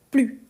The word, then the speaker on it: plus: je dis plus donc quand on a cette idée de négation on ne prononce pas le S donc tu vois un peu plus de café sens positif non je ne veux plus donc dans le sens